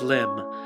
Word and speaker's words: Limb: "My name is Lim. The bee is silent."